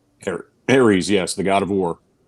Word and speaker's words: Ares: talk later however you start with ashes of errors uh ares now i always pronounce the wrong ashes of ares right here ares yes the god of war aries so at